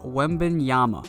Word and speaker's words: Wembanyama: Pretty easy to say when you sound it out, that's Victor Wembanyama.